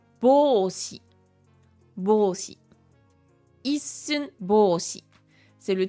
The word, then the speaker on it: ぼうし: Et là, on a bô, donc c'est un rô avec des ten tens qui donnent bô, un allongement e et shi, donc ça fait bôshi.